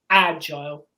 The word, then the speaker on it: agile: Metrically, they're the same, agile, nimble. They're both trochaic, so they have a stress on the first syllable, not the second.